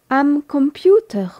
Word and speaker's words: Computer: les deux sont employés der computer nom masculin qui se prononce comme en anglais qui ne suit pas les règles de prononciation allemande C o m p u T e r c'est l'ordinateur der computer